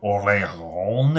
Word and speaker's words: Orléans: If any of you have played the game Orleans, or Orléans, as some people pronounce it, this is very similar to the gears or the cogs that cover up spaces.